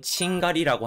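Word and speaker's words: 賃借り: 일본에서는 임대라고 하는 단어는 그대로 칭따이라고 하는 음독 어휘로 많이 사용되는데 임차의 경우는 음독 어휘인 친샤크보다는 차자를 훈독으로 발음하는 칭가리라고 하는 표현을 더 많이 사용하기 때문에 조금 주의가 필요합니다.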